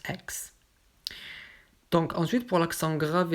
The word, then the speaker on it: Aix: Ça se prononce Aix.